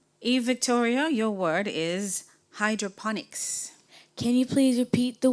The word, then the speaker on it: hydroponics: Eve Victoria, your word is hydroponics. Can you please repeat the word? Hydroponics. Can you read the meaning of hydroponics?